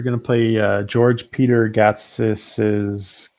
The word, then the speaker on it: Gatsis: We're going to play George Peter Gatsis. Gatsis? Is that the right way to say it, George? Gatsis? It sounds right. Is that acceptable?